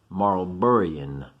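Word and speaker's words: Marlborough: Oh, one of my followers taught me how to say this. Marlburruh Wars.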